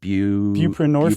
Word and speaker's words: buprenorphine: Buprenorphine. Bupinorphine.